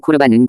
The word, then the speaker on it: 코르반: 고르반, 좀 더 정확하게 발음하면 코르반은 구약성경에서는 하나님께 드린 제물을 가리키는 낱말로 레위기 1장이나 민수기 7장에서는 예물이라고 번역되었습니다.